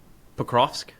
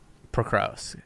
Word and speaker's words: Pokrovsk: Pokrovsk? Pokrovsk.